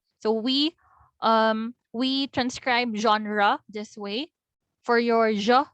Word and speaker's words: genre: sound is ja ja softer version of your z sound ja ja as in genre version measure so you have their